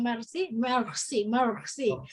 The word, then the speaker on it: merci: Kalau merci, merci.